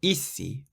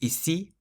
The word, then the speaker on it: ici: We've had ici, ici, so it's not ici, it's ici, so you stress the second part.